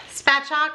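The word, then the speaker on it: spatchcock: to try to make the um spat chalk I believe is how they say it chicken I said I'm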